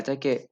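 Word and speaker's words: tack: अच्छा, मैंने आप लोगों को लास्ट टाइम बताया था कि थैंक यू को थक बोलते हैं, लेकिन थक की स्पेलिंग ऐसे नहीं होगी, थक की स्पेलिंग सी के एच होगी, थक।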